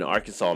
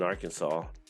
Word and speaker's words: Arkansas: nice five states to finish out with been Arkansas many a time Erie said hurts their closes